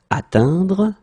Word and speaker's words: atteindre: Atteindre, atteint. Okay, so this nasal is quite tricky. Tricky. Normally students can have some difficulties because they're a bit stressed to see this E-N. Phonetically, it's un. Atteindre, and same thing here, atteint.